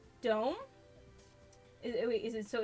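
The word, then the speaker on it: дом: It's pronounced dome is wait, is it?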